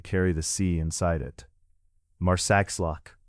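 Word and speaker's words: Marsaxlokk: Marsakllock, often pronounced Marsllock, rests beside a wide rounded harbor with low buildings facing the water and boats gathered close to the shore.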